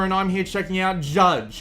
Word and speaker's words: Jydge: I'm here checking out judge and yes that is apparently how you pronounce it despite the fact that they have put a why instead of a you in there and they do that